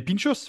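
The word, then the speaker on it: pintxos: je vois pinchapass voilà pinchos c'est P i n x t o s je crois si je dis pas de bêtises pinch parce que le le X en basque se prononce pinchos ouis voilà c'était l'instant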